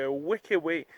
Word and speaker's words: Huerquehue: se voit demain ciao 93 bienvenue au parc wakaway je te jure ça se prononce comme ça ça s'écrit comme ça incroyable